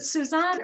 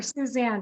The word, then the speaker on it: Suzanne: Is it Suzanne or Suzanne? Because friends of hers say different things. And of course, in her gracious way, Suzanne said. Well, Suzanne is the French pronunciation, but Suzanne is just fine.